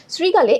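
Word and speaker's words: শৃগাল: তো আমাদের প্রথম যে প্রশ্নটা আছে, প্রথম যে প্রশ্নটা সেটা হচ্ছে শ্রীগাল শব্দের উচ্চারণটা কি? দেখো শ্রীগালে এখানে একটা রিকার আছে।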